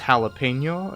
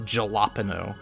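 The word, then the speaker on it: jalapeño: know none, other than it's pronounced jalapeno instead of jalapeno, okay? And I probably still didn't pronounce that right, but I know it doesn't start with a J, okay?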